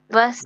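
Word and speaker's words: Wasser: তারপরে হচ্ছে ডব্লিউ হচ্ছে ভে, ভাসার। দুঃখিত। ভাসারের ইংলিশ হচ্ছে ওয়াটার।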